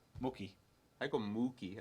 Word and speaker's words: Mookie: I go Mookie. I put like an emphasis in the moo.